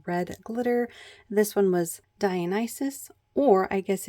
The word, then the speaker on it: Dionysus: This one was Dionysus, or I guess if you wanted to try to pronounce it Greek, you could say Dionysus, or something along those lines.